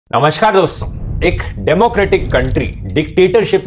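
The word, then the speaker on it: coup: या फिर opposing ideology की पॉलिटिकल पार्टी भी हो सकती है। इस दूसरे केस को कू कहा जाता है, प्रनाउंस कू किया जाता है, लिखा ये ऐसे जाता है।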